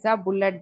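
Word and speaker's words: ballet: बसल Darcy बसल इ बुलेट dancer and model बले dancer ma'am ब बले डांसर टी साइलेंट ले र dancer बैले dancer and model he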